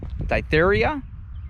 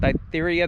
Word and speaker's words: diphtheria: uh what is that ditheria is that how you pronounce that diphtheria that's an infection of